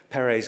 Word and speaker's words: Perret: And it's perhaps because my own surname has a silent T that I'm so fond of those words. So Perret's Guide to Gourmets versus Buffets.